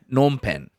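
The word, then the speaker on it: Phnom Penh: It's like nom nom nom pen.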